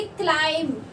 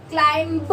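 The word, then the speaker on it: climb: क्लाइम, क्लाइम, क्लाइंब नहीं बोलते हैं, तो बी साइलेंट होता है।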